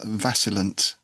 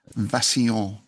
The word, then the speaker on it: vacillant: I'm going to finish with, well, it looks like it should be pronounced vacillant in English, but I believe it's probably from the French vacillant, and it just means wavering.